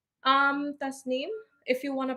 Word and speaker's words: Tasnim: the tazm or ta like how's that properly pronounced? Um, tasnim if you want to pronounce it with like the accent and everything, but tasnim is pretty fine.